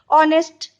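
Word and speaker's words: honest: ऑनेस्ट, इसका भी H silent है, ऑनेस्ट, इसलिए एन बैठेगा.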